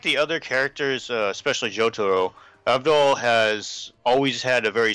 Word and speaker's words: Avdol: Avdol? Abdul? Yeah, well, that's like the Japanese pronunciation, but his name's Abdul.